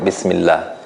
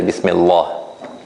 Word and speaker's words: Bismillah: So we say Bismillah. We don't say Bismillah. Well, this is the difference. If I make it strong, it will sound like this, Bismillah. And it is more difficult to pronounce. So you can try it, like if you say Bismillah compared to Bismillah. Right? It's more difficult to pronounce if it is strong.